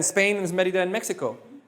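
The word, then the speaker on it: México: How many syllables in Mexico? 3. Where am I putting my push? On the first. So what does that tell me? Accent on the E.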